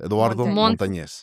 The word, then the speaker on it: Eduardo Montanez: Eduardo Montanz.